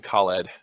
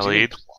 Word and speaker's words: Khalid: Khalid? Khalid. Khalid. Yes, That makes more sense. My bad. I am pronouncing this wrong. I have seen 3 different transliteration methods over this weekend. I apologize to all of our Arabic listeners.